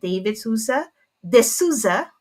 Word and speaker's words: De Souza: Sorry, before I do the introduction, now, the reason why I asked for the pronunciation, like in different parts of the world, that OU is pronounced differently.